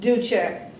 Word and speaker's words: Duchek: How do you pronounce it? Duchek.